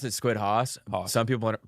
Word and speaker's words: SquidHaus: We pronounce it SquidHaus. Some people pronounce it SquidHaus.